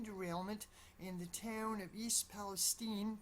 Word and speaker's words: East Palestine: disaster, a train derailment in the town of East Palestine, pronounced Palestine, East Palestine, Ohio, a small town of about 5,000 people, kind of near the Pennsylvania border.